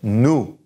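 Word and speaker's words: nous: say it okay so say new new the oh you sound is ooh and no pronunciation of the s so new alright now this one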